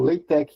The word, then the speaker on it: LaTeX: Ele é uma ferramenta online para vocês utilizarem, não sei se vocês devem conhecer que é o LaTeX, né? Ou LaTeX, que é a pronúncia lá em francês dele, né?